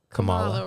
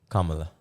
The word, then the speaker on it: Kamala: the whole debate and how do you say the vice president's name Camala Kamala right Kamala Kamala Kamala see and not Kamala see Kamala okay that's I want you